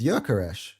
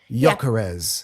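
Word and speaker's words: Gyökeres: Well, same thing with Jökeres. His pronunciation, his name is Jökeres. He has an umlaut in the O. Right, now say that for me. Jökeres.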